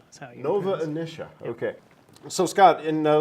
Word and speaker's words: Nova Initia: Academy award-nominated film Nova emission how do you pronounce it I Nova inicia Nova inicia okay so Scott and now let's talk about